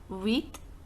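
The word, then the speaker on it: huit: is brilliance that is said save number eight wheat wheat number nine is no knob number ten is pronounced as these these I'm just revising once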